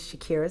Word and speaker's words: Shykira: Well, my name is Shykira. Yes, you pronounce it just like the singer Shykira.